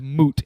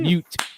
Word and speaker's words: moot: First of all, I can't stand when somebody says moot. It's fucking mute. It's a moot point. It's a moot. It's a moot point. Fuck that. Say it like an American.